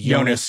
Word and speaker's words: Jonas: of thing where like with Jonas Jerebko it's actually yonas Europe right where this entire